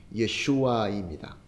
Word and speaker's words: 예슈아: 예수라는 것이 이게 헬라어로 기록되어 있어서 발음을 예수라고 하게 되는데 원래의 히브리어 말로는 예슈아입니다.